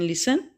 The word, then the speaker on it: listen: T letter is रिटन इन लिसन बट not pronounce in लिसन word. Okay, लिसन, T silent है, इसका meaning होता है सुनना।